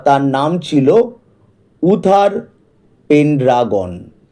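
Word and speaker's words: Uther: এখানে দেখো ইউ আছে। ইউতে তোমরা যেন দুটো উচ্চারণ হয়। ইউ হয় আবার কোথাও কোথাও আও হয়। তাই অনেকে এটাকে আথার পেন্ড্রাগন ও বলে। কিন্তু উথার পেন্ডাগন। এই নামটাই সঠিক হবে।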